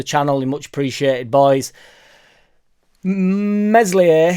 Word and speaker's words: Meslier: you much appreciated boys meslier silent s uh which people are now in the comments telling me that I need to start pronouncing his name correctly which I disagree with I'm not going to if some comes up it must come out if a changing for no man the boom stays Mesley silent s was apparently